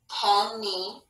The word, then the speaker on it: penny: We don't really clearly hear both ends when we say penny.